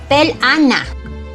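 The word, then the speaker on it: pelaná: Your Mom It says in 3 syllables Pel-A-Ná Despite the meaning of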